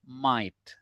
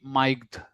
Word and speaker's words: might: Nah, might teman-teman sebagai informasi saja kalau yang ketemu GHT di belakang, G-nya dirop juga ya. Jadi bacanya might m a I t. Jadi, jangan paksain ada G miged gitu, enggak usah.